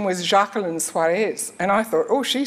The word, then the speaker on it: Suares: where does the name suis or suarez is how it should be correctly pronounced come from and um